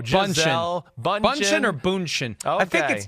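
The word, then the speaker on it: Bündchen: she'll bunch in a bunch in tow technically Boone is not a third syllable I can say that okay whatever the two syllables are there's not an N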